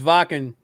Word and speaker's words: Wacken: wanted to go to was, I think it's pronounced Wacken. Wacken. Wacken. It's Wacken.